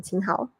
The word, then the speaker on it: Qin Hao: How do you pronounce his name? Qin Hao.